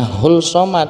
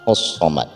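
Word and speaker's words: الصمد: Hai custom ada Hai jadi jangan sampai kita membacanya Hull Somad Hai tetapi yang benar adalah house Somad dikarenakan alif lam disitu adalah Idgham Syamsiah yang artinya langsung dimasukkan ke huruf huruf Syamsiah dan di akhir kedua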